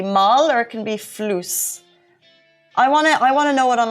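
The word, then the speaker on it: فلوس: Flus. Flus. Okay, flus. Can you spell that for me, please? Floos. Floos, like floss, but spelled flus.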